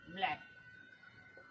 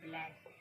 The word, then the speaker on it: black: सी जो आपका है वो चुपचाप बैठा हुआ है और सी चुपचाप यानी साइलेंट है। और के को पढ़ते हैं का। इस तरह से ये बन गया ब्लैक।